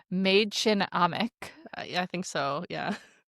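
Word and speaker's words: Mädchen Amick: And then Sherry, who is played by I assume that you looked this up and spelled out how to pronounce her name. Maid Chin Amik.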